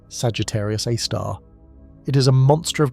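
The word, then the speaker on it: Sagittarius A*: We call it Sagittarius Aar, pronounced Sagittarius Aar.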